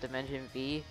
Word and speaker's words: Dimension VVVVV: You're supposed to pronounce Dimension VVVVV as just Dimension V.